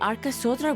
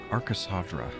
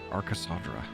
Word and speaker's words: Aras sadra: flee Tav all together Aras sadra okay I was pronouncing it wrong this entire time Aras sadra all right peace and